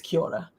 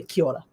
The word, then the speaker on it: kia ora: So like the way they say hello is kia ora, but it's spelled K-I-A apostrophe O-R-A. So you think kia ora, but because they speak really quickly, kia ora.